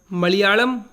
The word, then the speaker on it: मलयालम: इसका सही उच्चारण मलयालम होता है।